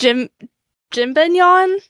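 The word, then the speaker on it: Jibanyan: the main cat character, I think his name is pronounced Jimbinyon. I might be wrong, but I think that's how. So basically, it's more so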